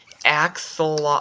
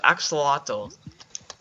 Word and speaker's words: axolotl: some glow switch and how do you see how you pronounce these axle actually axolotl axolotls that's flying in the